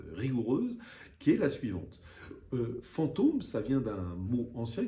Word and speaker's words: fantôme: Et puis la prononciation a changé, le S a disparu et la syllabe s'est allongée. On a dit fantôme, voilà. Et le chapeau, l'accent circonflexe, servait à marquer cette disparition du S, mais aussi surtout à prononcer la syllabe de manière allongée.